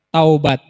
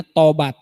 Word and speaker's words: taubat: asing buat kita ya Taubat tapi juga orang ada yang menyebutnya tobat tobat padahal kalo ngikutin ejaan Arabnya itu tahu Hai berkata-kata